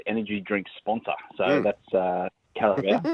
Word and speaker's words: Carabao: But and I'm probably pronouncing this wrong, the Carabao Cup final. Carabao.